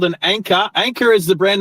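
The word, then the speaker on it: Anker: I took it back, got my money back, and I was able to get that anchor. So, Anchor is spelled A N K E R.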